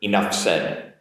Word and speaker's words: enough said: a little bit quicker enough said enough said the f sound links into that s sound to a certain degree